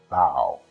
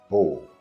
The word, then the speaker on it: bow: For instance, you can bow before royalty, that is OW sound, or use a bow, which is O sound, to shoot an arrow.